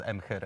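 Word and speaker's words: Emhyr: made it uh that in polish we pronounced it as m her i just found it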